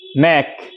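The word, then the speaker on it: knack: তাহলে আমরা চলো দেখে নিই কিছু এরকম শব্দ বা word K এন এ সি কে নেক দেখো কে এন এ সি কে নেক মানে এখানে কে উচ্চারণ হয়নি কে এন ডবলই নি এখানে কে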